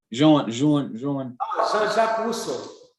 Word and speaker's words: Jean-Jacques Rousseau: As a matter of fact, one of the guys who said that was, you told me his name, how to pronounce his name. Jean-Jacques Rousseau.